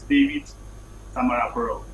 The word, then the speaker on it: David Tamaro: just make some correction actually the made a mistake pronouncing my name my name is David Tamaro so in case of